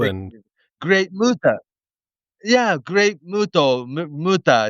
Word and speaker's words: Muta: H and U and Great Muta.